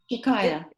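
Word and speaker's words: Chakaia: Is her name pronounced Chakaya? Chakaya.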